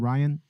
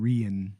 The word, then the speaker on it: Rian: I'm saying it's like it's pronounced like Brian but without the B yes okay I got you I got you that's interesting to know I always called it called him Rhian Johnson or something like